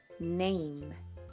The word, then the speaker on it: name: 여기에 묵음 이가 붙으면 여기서 A는 에가 아니라 A로 발음을 해서 느, A, name 이라고 읽으시면 됩니다.